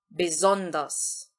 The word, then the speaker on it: besonders: Primeira questão, o S seguido de uma vogal, isso eu já falei várias vezes aqui nesses vídeos, ele sempre vai ter o som de Z. A segunda sílaba desta palavra, ela vai ser entonada. E a outra questão é que o IR, ele vai ser pronunciado com som de A.